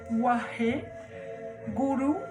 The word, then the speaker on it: Waheguru: Wahe, Guru, donc les G en gourmski, en sanskrit simplifié, ils se roulent. Et les U se prononcent U.